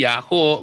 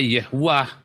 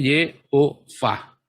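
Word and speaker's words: יהוה: Tapi karena ada tanda bacanya, Anda nggak bisa baca ini Yahoo, nggak akan. Bacanya ya Yehuwah. Ya, kalau di dalam ayat lain, atas ini malah ada kolamnya di sini, saudara ya. Artinya bacanya Yehovah.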